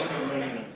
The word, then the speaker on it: entrepreneur: So, people have mispronounced the word entrepreneur for years and years and years. It's actually entrepreneur.